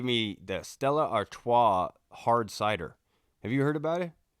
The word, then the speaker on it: cidre: of me cuz it's it's spelled c i d r e with a little uh how at the end of it CID that's what I said I was like oh Apple CED and she was like